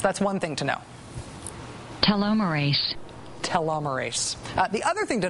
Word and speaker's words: telomerase: chromosomes are protected by telomeres and the enzyme telomerase. Okay, 2 things to know about this. First, it's pronounced telomerase.